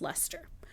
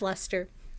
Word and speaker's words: Leicester: It's L E I C E S T E R, but it's pronounced Lester. Looks like Lester Chester. Lester. Yeah. Yeah. Nope. It's Lester.